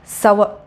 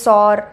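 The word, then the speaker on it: sour: யோ பயங்கர புளிப்பாக இருக்குது அப்படின்றதுக்கு நம்ம இங்கிலீஷில் என்ன சொல்வோம், சவ. ஸோ நிறைய பேர் வந்து சார் சோர் அப்படி இப்படின்னு தப்பு தப்பாக ப்ரொனவுன்ஸ் பண்ணுறாங்க.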